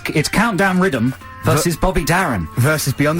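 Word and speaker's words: Riddim: In fact, it's called Countdown Rhythm, and it's spelled R-I-D-D-I-M.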